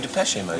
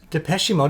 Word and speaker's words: Depeche Mode: before I this again I looked up I said how do you pronounce it and it said dep pesi mode like peshy like Joel peshy but they're saying it's